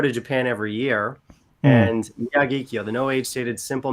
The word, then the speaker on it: Miyagikyo: I bought the Mikiya, I'm not pronounce this right, Mikiya. Miyagikyo. That one. I see somebody hasn't watched Sorry, my accent. Japanese whiskey video, Phil. But yes, Miyagi-kyo is what you're trying to say.